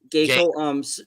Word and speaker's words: Giko: No, not really. It's gay and then go. Geico.